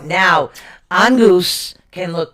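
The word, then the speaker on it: Inguz: It's spelled I-N-G-U-Z. It is pronounced E-N-N-G-G-O-O-Z. Angus.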